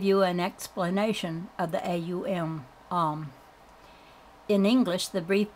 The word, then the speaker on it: Aum: A is a guttural sound. As you pronounce it, you will note it starts in the throat. To pronounce U, the lips must be thrust forward. M, you will note, is formed by pressing the lips together, causing a resonant tone like the humming of a bee.